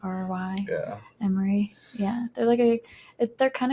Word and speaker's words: Emery: An Emery, like an Emery board? Yeah, well, yeah, that's not how you spell it, but Emery.